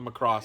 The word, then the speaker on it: Macross: Is for the Macross feel.